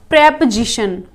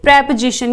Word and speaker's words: preposition: प्री सही है, लेकिन जब इनको एक साथ बोलेंगे तब इनका जो प्रोनाउंसिएशन है वो हो जाएगा प्रेपोजिशन। ओके, इसको आप बोलोगे प्रेपोजिशन, ये प्रीपोजिशन नहीं है।